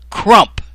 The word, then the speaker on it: Crump: Chandler Crump and notice notice it ain't Crump Crump it rhymes with Trump do you think that's